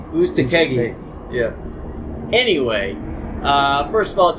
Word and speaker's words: Uzcategui: Uzcategui. I think that's how we pronounce it. Uzcategui. How do you say it, Jeff? Uzcategui.